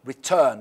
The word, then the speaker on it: return: In bold, return. You see, turn, return. So the stress in the second part.